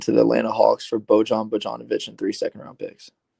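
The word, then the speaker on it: Bojan Bogdanović: very many of those bug donovich my bad I got you yeah the I is itch in most cases okay the Los Angeles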